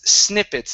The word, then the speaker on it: snippets: Next up, this is snippets instead of snippets. Okay. Use a short I.